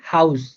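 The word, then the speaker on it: Haus: যেমন এখানে উচ্চারণটা হবে কি আ উ অর্থাৎ এ ইউ এর উচ্চারণ হবে আউ, এ ইউ এর উচ্চারণ হবে আউ। একটা আমরা উদাহরণ দিছি হাউস, হাউস।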